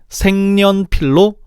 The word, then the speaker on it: 색연필: 즉 색연필은 생년필로 발음해야 되는 거야.